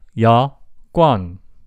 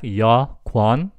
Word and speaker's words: 여권: 여권 is the correct spelling, and it pronounced like 여권. Even though it spells like 여권, its actual pronunciation is more like 여권.